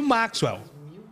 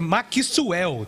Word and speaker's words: Maxwell: Eu já tive essa discussão, que né, eu leio Maxwell, mas é Maxwell. Tem que fazer o Kissu ali no meio do caminho.